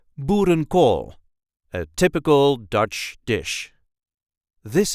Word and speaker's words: boerenkool: There is a light emphasis on the last part of the word.